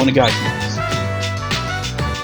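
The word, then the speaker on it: お願いします: It's like you see that as well, Onegaishimasu. It's like you see the at the end is S-U, which in Japanese is pronounced as C. But in Onegaishimasu it's silent.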